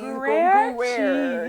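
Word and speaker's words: Gruyère: Gruyere cheese. No, it's like Gruyere.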